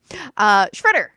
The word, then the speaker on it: Tschritter: Tschritter.